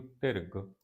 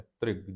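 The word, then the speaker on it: ਧ੍ਰਿਗ: त्रिग जीवे त्रिग जीवास इन तिग नहीं पढ़ना रारा पैर च आप उच्चारण सदा पैर विचों ही करना है त्रिग जीवे त्रिग जीवास जिन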